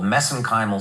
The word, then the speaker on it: mesenchymal: Yeah, so I know I get criticized for that, but that's a little bit of an Irish accent on my part.